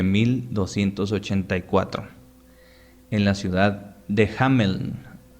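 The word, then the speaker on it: Hameln: en la ciudad de hamelin originalmente así se pronuncia bueno en alemán hammel este relato por su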